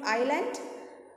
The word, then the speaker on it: island: What is the spelling of island? I-S-L-A-N-D. That S is silent there.